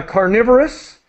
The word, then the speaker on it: carnivorous: feeds excellent great job just uh carnivorous is the is the pronunciation and uh herbivorous you